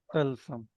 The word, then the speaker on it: तिलिस्म: Sorry, टल टलसम तलसम। Listen. तलसम Very तल्स good. तलसम या तलसुम हो सकता है। तिलस्म नहीं हो सकता। Word is the listen. हाँ तिलस्म। Listen. तिलिस्म, हाँ वही जेर लगेगा दोनों जगह।